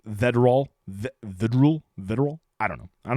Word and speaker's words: Vedral: Vedral. It's got to be it, right? It's not Verdal, or it'd be the R and the D would be mixed up.